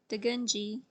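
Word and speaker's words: Dugundji: The concept of complex envelope was popularized by Degunji and Bedrosian. Degunji is spelled D-U-G-U-N-D-J-I, and Bedrosian is spelled B-E-D-R-O-S-I-A-N.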